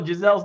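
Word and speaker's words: Geiszel: And also, Giselle's name is spelled G-E-I-S-Z-E-L. All right? All right. She's not French.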